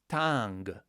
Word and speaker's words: tang: gap is ding or tang. Make sure here that you pronounce all the components of this syllable. So it's di n g or ta n g, or otherwise you will quickly get lost, I speak from experience.